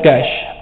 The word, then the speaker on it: cache: द कैश pronounced as कैश, इट इज a small but very fast memory in the computer system.